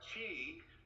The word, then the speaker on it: qi: gong is so uh chi which is spelled q-i and you pronounced it very well is like cheese without the sc on